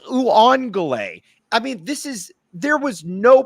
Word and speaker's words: Uiagalelei: Tai Uiagalelei, not hard to pronounce. Uiagalelei. What is Uiagalelei?